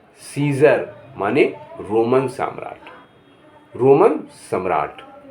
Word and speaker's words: Caesar: ए silent है, जैसे कहेंगे CAESAR, तो यहाँ सीजर माने रोमन सम्राट, रोमन सम्राट।